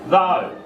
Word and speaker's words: though: And also here you've got the silent GH in this word. What's this word? Though.